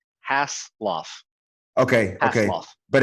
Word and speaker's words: Haseloff: name man my bad two syllables hass lof okay okay but it's jr hassle okay my bad dude